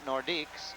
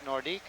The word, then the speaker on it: Nordiques: Quebec Nordic I guess it's proper to say nordique isn't it it's like kala C the Coliseum here in Quebec it's the colisee and it's not nordics it's nordique that seems to be the pronunciation I hear more than any other from the Quebec people and there's a Quebec